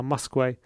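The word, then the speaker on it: Muskwe: wickham admiral muskway there we go i can pronounce his name now muskway with a cross and his comeback off him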